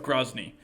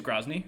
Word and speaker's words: Grozny: uh let's start with grozny i hope i'm pronouncing that correctly i i don't hear the name very much i see it in print more often but i i think it's grosney yeah and uh so